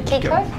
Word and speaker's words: Kiko: Hello, Kiko. Hello. Oh, is that how I pronounce it? Yeah. Kiko? Yeah.